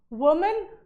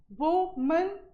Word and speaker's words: women: Next is वुमेन, वुमन बोला जाएगा, क्या बोला जाएगा, वुमन, वुमैन नहीं बोला जाएगा, ठीक है, वुमन। ऐसे ही अब WOMEN क्या हो जाएगा, विमेन, क्या होगा, विमेन, ठीक है, वुमन एंड विमेन, ठीक है।